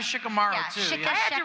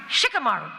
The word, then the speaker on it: Shikamaru: go back and so this one Japanese uh consultant said no no you don't say it shikamar you say Shikamaru I'm like okay so